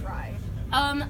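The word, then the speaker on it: Rhy: to pronounce rye, because it's rye like Y, but I get that like there's like Sarah J.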